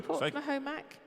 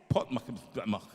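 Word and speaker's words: Portmahomack: Portsmouth-Homac, is it that right? Who? Portsmouth-Homac. From Fiona Richards. What's it called? Spell it. I don't know, darling. It's Portmahhomack.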